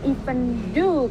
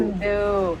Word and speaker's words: even though: Kartini said even do. Who can help Miss Debbie? What is the correct pronunciation? Can somebody help me? No? Kalau Okay. nggak salah, even though tuh, Bu. Ya. Oh, yes. Though, Bu. Yes, Though. even though. Great job, Prayanto. Yes, that's even though.